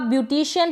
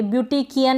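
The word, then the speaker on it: beautician: पर CIAN है ना, तो आप ब्यूटिशियन पढ़ेंगे, ब्यूटिकियन नहीं पढ़ेंगे, ठीक है, ब्यूटिचियन नहीं पढ़ेंगे।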